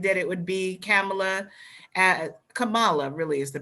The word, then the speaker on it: Kamala: i predicted predicted that it would be kamala kamala really is the pronunciation of her name as vp uh karen